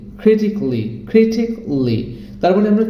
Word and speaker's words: critically: লজিক্যালি, অ্যারিস্টিক্যালি or physically, critically। তার মানে আমরা কি করছি, আগে যেটাকে বলতাম ক্যালি, এখন সেটাকে বলবো ক্লি। Kelly, it should be cli, that means romantically, musically, logically, artistically, physically, critically.